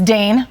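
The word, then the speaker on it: Dain: Did Dane probably spell D-A-I-N? Oh, wow. Very See what you smooth did there? there, Shep, yes. Which rhymes with drain, which is what we fixed in the plumbing world.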